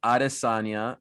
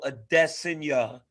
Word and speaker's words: Adesanya: Israel Adesanya.